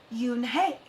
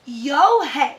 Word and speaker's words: Unhei: chanted no no unhei it's spelled u n h e i it's pronounced yoon hey oh it's yo hey said the boy like